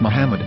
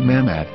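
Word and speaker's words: מחמד: According to Ben Yehuda's Hebrew English dictionary, it is correctly pronounced as Muhammad, not Mammad.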